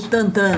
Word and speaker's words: Tintin: Eu aprendi a ler nesses álbuns do Asterix e do belga Georges-Remy Hergé, o Tintin. Então, Asterix... Ou Tantan, né? Tantan é a pronúncia certa, mas ninguém pronunciava assim no Brasil.